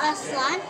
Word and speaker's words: Aztlan: AZTLAN.